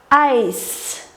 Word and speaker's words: Eis: И в немецком языке читается как Ай. Значит, читаем Айс.